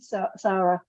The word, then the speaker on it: Sara: and today's guest is the very very fabulous Sarah charms hello Sarah hi and I keep saying Sarah like it's a Sarah instead of Sarah how how do you actually say your name Sarah so so I was getting it right it's